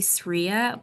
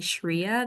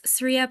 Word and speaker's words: Sriya: It's actually supposed to be Sriya, but everyone calls me Shriya. There's no H. So it's Sriya, and I am the founder of V Marketing.